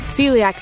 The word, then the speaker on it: celiac: Let me get a a pronunciation. I think I'm close on this one. Uh celiac celiac disease.